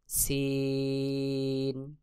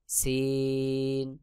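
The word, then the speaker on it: سين: যেমন যা তারপরে সিন জিহ্বার আগা সামনের নিচের দুই দাঁতের পেট ও আগার সঙ্গে লাগাইয়া সিন সিন তারপরে রয়েছে শিন জিহ্বার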